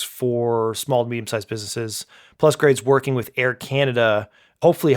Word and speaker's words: Plusgrade: I actually don't know how to pronounce the name, if it's Plusgrade or Plugrad. Yeah. Plusgrade, okay.